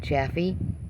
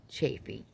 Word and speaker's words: Chaffee: Although I've seen attempts to pronounce his name come up Chaffee. People spell it that way all the time. Although when he says it, he introduces himself on his streams and any interview where he introduces himself, Anthony Chaffee.